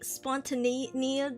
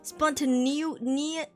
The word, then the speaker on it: spontaneity: Don't we love spont spont spontaneity? How do you pronounce the word sp? Let's Google it. Spont spont spontaneity spontaneity.